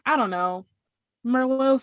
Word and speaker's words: Merlot: It's like, I don't know, Merlot sounds like that's what's happening. I don't pronounce the T at the end, so that's fancy, I was like, maybe I'll get maybe today I'm feeling a Pinot.